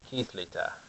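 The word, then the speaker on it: kerretv: Here is how you spell it. You go like this. Kithlita.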